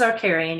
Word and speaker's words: Archarian: of the story The Aran series that is is it Aran series it's AR caran yeah you got it yeah good wow pronunciation